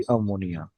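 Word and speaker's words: ammine: देखो, ध्यान से देखो, डबल एम आ जाएगा, अमीन। AMM वाला अमीन। सर गलत तो नहीं स्पेलिंग? नहीं, स्पेलिंग गलत नहीं बेटा, ये डबल M ही आता है, वही बताने की कोशिश कर रहा हूँ मैं, प्लीज। इसका नाम अमोनिया नहीं अमीन बोला जाएगा कॉम्प्लेक्स के अंदर, ठीक है?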